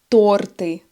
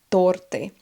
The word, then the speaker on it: торты: Вкусняшки — это что-то очень вкусное, например, конфеты, печенье, торты. Да, будьте внимательны: ударение — торты. Торт, торты.